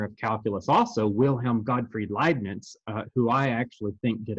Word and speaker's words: Leibniz: notation and it looks like leibniz but it's pronounced leibniz it's a liveness uh now for our and you don't need